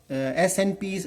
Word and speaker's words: SNPs: polymorphism, pronounced as SNPs, SNPs are pronounced as SNPs, occur in human genome.